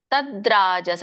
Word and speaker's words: ತದ್ರಾಜಸಂ: ದೀರ್ಘ ಯಾ ದೀರ್ಘ ಬಹುಲಾಯಾಸಂ ತದ್ರಾಜಸ ಮುದಾಹೃತಂ ತದ್ ತದ್ರ ತದ್ರ ತದ್ರಾಜಸಂ ದ ಕ್ಕೆ ರ ಒತ್ತು ಬಂದಾಗ ಹೇಳಬೇಕು ನಾವಿಲ್ಲಿ ಯಾಕಂದ್ರೆ ದ ವ್ಯಂಜನ ಇದೆ ತದರಾಜಸಂ ಉದಾಹೃತಂ ತದ್ರಾಜಸ ಉದಾಹೃತಂ